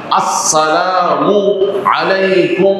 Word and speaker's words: আসসালামু আলাইকুম: এইভাবে সালাম উচ্চারণ করব আসসালামু শুরুতে হামজা উচ্চারণ হতে হবে ঠিক মত মিমের উপরে পেশ এটাও ঠিক মত উচ্চারণ হতে হবে ম্যাক্সিমাম ভাইদের এই হামজা উচ্চারণ হয় না মিমের উপরে পেশটা উচ্চারণ